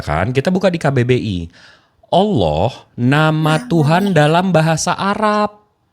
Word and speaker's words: Allah: kita buka di KBBI Allah nama Tuhan dalam bahasa Arab jadi kata Allah ini diserap dari dari mana dari mana bahasa arabah alif lam lam ha itu pronounciation-nya Allah bukan Allah he siia dengarin dulu